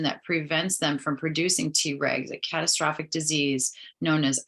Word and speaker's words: Tregs: Known as Tregs, pronounced T-regs, these cells exert a calming influence over the aggressive, bloodthirsty members of the immune system's rank.